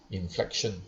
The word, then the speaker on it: inflexion: So both pronounced as inflection, but different spelling.